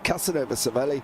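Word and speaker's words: Casanova-Savelli: and a left it's Casanova SEI which is a fast flowing right left corner it is actually pronounced as one so there we go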